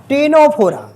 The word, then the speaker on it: टीनोफोरा: उसको बोलते टीनो टीनोफोरा टेनोफोरा इसमें सी वर्ड साइलेंट है। टेनोफोरा बोलेंगे।